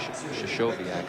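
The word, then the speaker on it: Krystkowiak: Well, people pronounce that name a lot of different ways. Shashoviak, I think, is the correct way.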